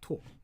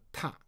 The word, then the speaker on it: 拓: Okay, it's 拓. Now another pronunciation called 踏.